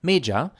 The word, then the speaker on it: Méja: A titre de comparaison, voici encore mon nom Méja, et les deux mêmes syllabes sans l'accent irrégulier, qui se prononceraient régulièrement comme Mejá.